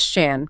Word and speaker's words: Shan: And just a quick note for you, his name is Shan, pronounced just like you'd say Dan or Stan.